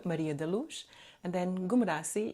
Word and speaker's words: Maria da Luz: My name is Maria da Luz Ghoumrassi. And how do you spell that? Yeah. So Maria, and then Daluz. That's a Portuguese name, Maria da Luz.